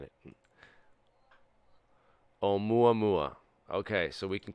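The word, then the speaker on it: Oumuamua: um ma um UA mua that's the correct pronunciation we have a Hawaiian person saying it om mua mua okay so we can call it the right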